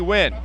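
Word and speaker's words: Nguyen: Wynn's going to go to the right side. He spells it B-I and then N-G-U-Y-E-N. They just say, pronounce it B. Wynn.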